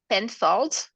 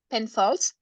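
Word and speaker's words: Penfolds: say that name yeah the the brand is pen fold and it's owned by twe so can you spell it yeah it's p e n f o l d l d pen Falls and it's all by T w e so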